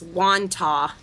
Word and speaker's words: Wantagh: You say Wonton, New York? Yeah, that's I looked it up on Wikipedia, and that was the pronunciation that they gave was Wantagh.